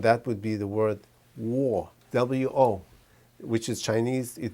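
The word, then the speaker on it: 我: It means I, and there's no other way to pronounce wo, W-O. I don't care if you're from East Kenya or Southern Japan or South America, Argentina, you will see this and you'll pronounce this as wo, W-O. The intonation might be a little bit high or low. It doesn't matter because it's always going to be O, and there's no other word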